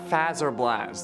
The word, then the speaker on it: Fazer Blast: at Bonnie ball others suggested a battle at fazer blast there are you happy I said it right